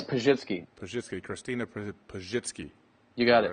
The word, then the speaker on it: Pazsitzky: It's Pazsitzky.